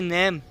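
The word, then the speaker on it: name: जैसे नेम, अब देखिए नेम में जो लास्ट वाला ई आ रहा है इसको हमने नहीं पढ़ा, इसको साइलेंट के तौर पर हमने पढ़ा है, जैसे नाम।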